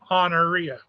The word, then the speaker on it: Honoria: Just say Honoria. Honoria. And you put the emphasis on the second syllable.